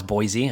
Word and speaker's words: Boise: life or move to boys idaho i'll move to boise oh it's boise i said it wrong yeah it's boise well you would move